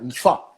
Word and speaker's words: Nfa: est-ce que je vais bien le dire? Nifa, c'est ça? Oh, très bien.